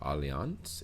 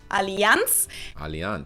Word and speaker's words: Allianz: insurance bro i'm tweaking most americans call it allianz alliance is it alliance alliance the correct german pronunciation is allianz yeah let's go we